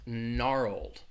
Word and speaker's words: gnarled: somebody asked about was gnarled gnarled and gnarled just means like you're chewing something but again this has a silent letter that silent G at the beginning gnarled gnarled that EE D is